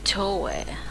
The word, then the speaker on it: Toei: Oh, so I should pronounce it Toei.